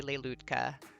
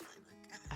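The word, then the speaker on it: Lelutka: But I hear a lot of people say Leilutka, but Yeah, it's Leluca.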